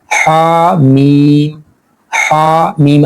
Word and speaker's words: حم: شروع ہو رہا ہے، حا میم الگ الگ پڑھنا ہے، عین، سین، قاف، ساتھ